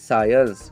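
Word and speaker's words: science: साइंस। क्या pronounce करोगे?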